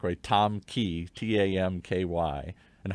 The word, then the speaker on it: Tam: Tam Ky, TAMKY. And how do you pronounce it?